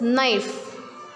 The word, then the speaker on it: knife: Next is knife. We will not pronounce K, we will just pronounce NIFE, knife.